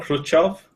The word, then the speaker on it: Khrushchev: Khrushchev? How did you pronounce it?